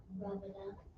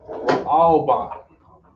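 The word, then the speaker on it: ראובן: Would it be pronounced Rabbanah? No. No. Go ahead. Wow. Yes. Ra'alban. Okay. Reuben is Ra'alban.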